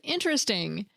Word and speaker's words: interesting: in an NPR interview, can be pronounced with either 3 or 4 syllables. And while the 3-syllable and 4-syllable camps may curse each other, according to Curzan, quote, if you look in modern standard dictionaries from the last 10 years, they'll show multiple pronunciations, 3 and 4 syllables, unquote.